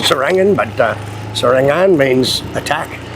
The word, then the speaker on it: Serangan: Now, you pronounce the word sarangan. Yeah, sarangan.